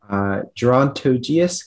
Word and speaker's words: gerontogeous: All right, speller 92, your word is gerontogeous. Gerontogeous, can I have the definition? Gerontogeous means relating to the old world or the Eastern Hemisphere. Okay, gerontogeous, can I have the language of origin? Gerontogeous comes from a French part, a Middle English